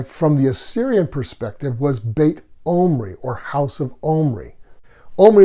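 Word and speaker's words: Beit Omri: the infamous King Ahab in one Northern Israelite dialect bait Omri was pronounced bait humri now keep in mind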